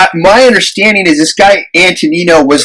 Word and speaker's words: Antonino: Although they say Antonino Rocca. Oh, that's how you say it, Antonino. Yeah. I thought he thought it was Antonio.